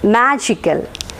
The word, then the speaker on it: magical: suffix suff suff so stress will be marked on the syllable preceding the suffix that is here so it is magical magical is given or